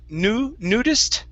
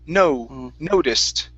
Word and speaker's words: noticed: Noticed instead of nudist, it's an O sound. Noticed.